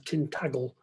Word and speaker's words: Tintagel: in total aren't that he also liked to pronounce the tintagel with a hard g as tin taggle but i'll continue to call his poems the idols and tintagel if he doesn't mind